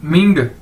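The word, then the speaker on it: 名: पास ऊपर ये है मिंग एम आई एन जी मिंग ठीक है इसको कैसे पढ़ेंगे मिंग मिंग और इसी तरह जड आई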